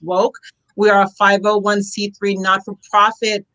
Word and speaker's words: WOCC: I'm the co-founder of Women of Color in Cannabis, WOCC, pronounced WOKE.